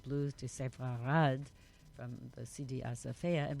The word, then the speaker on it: Sepharad: culture, and that all the Sepharda, I can't pronounce it. Huh. Sepharad means Spain. Right, exactly. Sepharad.